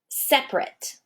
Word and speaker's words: separate: What about the word separate? Separate. That is actually a 3-syllable word, but I take out an entire syllable when I speak it. Different.